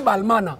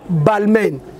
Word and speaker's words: Balmain: Avec Balmain. Bah on dit Balmain, alors qui Balmana.